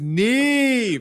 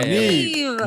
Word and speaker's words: NIve: we have a very special guest on the show, and his name is NIve. Woo! I pronounced that right? Yep, yeah. NIve.